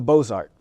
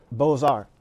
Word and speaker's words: Beaux-Arts: The title of the article was Sahara of the Beaux-Arts, B-O-Z-A-R-T. He is literally making a pun about how an uneducated Southerner would mispronounce this fine art term.